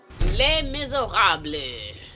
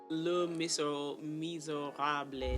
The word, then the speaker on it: Les Misérables: Les Misérables. That's how you say it for real? I mean, it's French. Le Misérables. It's Les Misérables is the like English whitewashed way to say it.